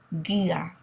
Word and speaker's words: guía: The U here is really just a placeholder, okay? So we're not going to pronounce it. There's an accent on the I, so we're going to make sure the stress is on that letter.